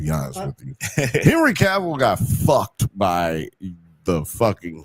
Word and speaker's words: Cavill: It's Cavill.